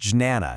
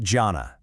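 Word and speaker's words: jñāna: It focuses on jnana, and just a quick note for those keeping track, that's pronounced jnana, not jhana.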